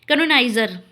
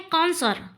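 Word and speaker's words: connoisseur: तारंकित कर लीजिएगा देखिए कैनोनाइजर इसको लोग प्रायः क्या पढ़ते हैं कैनोनाइजर ठीक है लेकिन ये है कंसरर क्या है कंसरर कंसरर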